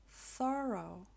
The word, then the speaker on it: thorough: am through with you this looks similar as the previous word but this one is pronounced thorough thorough wash this dirty shirt